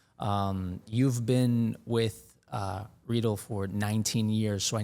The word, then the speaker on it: Riedel: a a it right let's go Abol yeah rle like needle is kind of the way to